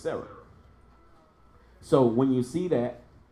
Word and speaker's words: Sarah: Of course the hey is silent, just like if you wrote out the name Sarah. When you put H at the end, you're not saying Sarah. You're not doing that. It's just Sarah.